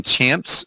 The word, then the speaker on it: Champa: down at 16th and in champs street i guess they pronounce it that way or no it's like more like champa's street or champa street something like that but